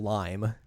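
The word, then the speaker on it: Raimu: Yuzaki and Rhyu, who they just call Lime, even though her name is spelled R A I M U.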